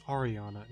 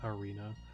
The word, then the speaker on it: Ariana: You get a cutscene of Ariana, and also, I don't know why I've always said Arena. It's Ariana, not Arena. I've been pronouncing that wrong like the entire time I've been playing Rejuvenation.